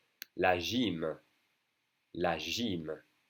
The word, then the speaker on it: gym: La gym, la gym. Pronounced like an I, really.